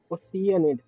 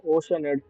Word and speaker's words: Oceanid: some related information there oceanid that's how it's pronounced I've been calling oceanid for 2 years now so nervet maintains